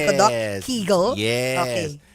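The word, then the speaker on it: Kegel: Tama ba ang pronunciation ko doc? Keegle.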